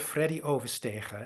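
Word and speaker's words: Freddie Oversteegen: Here's the story of Freddy Overstegen. And yeah, and for those of you who are non-Dutch speaking, yes, that's how you pronounce it.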